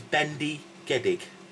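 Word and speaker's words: bendigedig: right the next one a way you can pronounce this word actually is think of mr gedig who's very flexible so he's bendy geddig bendygeddig get it bendy getting it's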